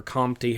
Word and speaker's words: Comte: Lyle, Lamarck, and Comte, or Comte, however you want to pronounce that.